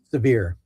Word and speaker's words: Sevier: Oh, how do you pronounce it? Severe.